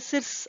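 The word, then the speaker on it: SIRS: அடுத்து எஸ்ஏஆர்எஸ், எஸ்ஏஆர்எஸ்ஸை வந்து சில பேர் சிர்ஸ் அப்படின்னு கூட ப்ரொனவுன்ஸ் பண்ணுவாங்க.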